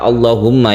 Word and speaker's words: allahumma: mufakhamah itu istilah lain yang jelas cara membacanya yaitu ditebalkan seperti lafaz Allah menebarkannya seperti itu bukan Allah contohnya yang ini kita kalau membaca doa allahumma seperti itu bukan Allahumma kalau sebelumnya itu kasrah